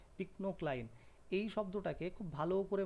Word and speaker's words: pycnocline: ইংলিশে যদি উচ্চারণ করো ফাইনোক্লাইন, বাংলায় পিকনোক্লাইন।